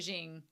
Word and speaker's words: Ging: Not ging, but Jing. Jing and gone. The G's are pronounced differently.